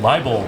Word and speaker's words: Liebold: with us we have Tim liel that's the correct way to say it right that's correct I don't know why